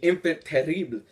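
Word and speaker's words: Enfant Terrible: getting one of my personal favorite villains the infant terrible and yes it is pronounced like that by the way you are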